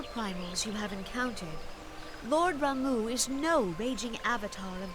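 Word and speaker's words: Ramuh: returned unto the forest oh that's how you say it I've been saying Rama almost like Ramen ramu he's a cow scarce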